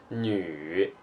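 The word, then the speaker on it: 女: is a character it means woman and the pronunciation of it is new new new it means a woman or a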